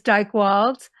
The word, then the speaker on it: Dychtwald: d y I know a lot of Maddie spell it I.E not me and the last name is Dyke wals very hard last name uh D like David